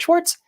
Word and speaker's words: Schwartz: CS c h w a r TZ it's pronounced Schwarz and then like a scratch and then uh